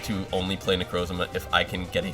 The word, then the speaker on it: Necrozma: try and power up necro's zama i i know it's not pronounced that way it's uh necrozma but i'm pretty sure